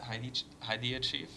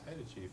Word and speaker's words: Haida Chief: Heidi Chief? It's Haida Chief. Haida Chief.